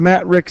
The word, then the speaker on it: matrix: talked about what a matrix is um how do you know that the a is long that it's a long a that you're supposed to say Matrix how do you know